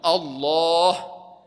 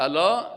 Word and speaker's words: الله: تنبیه است آگاه باشین بعضی کس الله را صحیح تلفظ نمیکنن ما شما نام الله را باید بگیم بگیم بگیم الله بعضی کسا که میگه الله این ای معنای نمازش غلط میشه نمازش غلط است الا آگاه باشید ماما